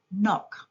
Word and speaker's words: knock: K is a silent letter in the word knock.